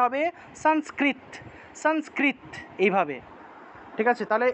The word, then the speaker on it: সংস্কৃত: উচ্চারণ করতে চান তাহলে উচ্চারণটা হবে সংস্কৃতা সান উচ্চারণ হবে সংস্কৃতা সংস্কৃতা এভাবে সংস্কৃতা সংস্কৃতা দন্তস অনুসার শব্দের মাঝখানে আছে তাহলে ন এর মত উচ্চারণ হবে সংস্কৃ তারপরে তটাকে পূর্ণ উচ্চারণ করতে হবে কেন পূর্ণরূপে উচ্চারণ করতে হবে কারণ ত এর নিচে হসন্ত নাই তাহলে সংস্কৃত সংস্কৃত এভাবে উচ্চারণ করতে হবে আর যদি তয় নিচে হসন্ত থাকতো।